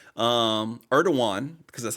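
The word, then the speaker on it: Erdoğan: t uh erdogan that um erdogan because that's how you pronounce the name visit to the city for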